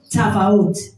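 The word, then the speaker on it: צבאות: En hébreu, ça se prononce Tavaoth.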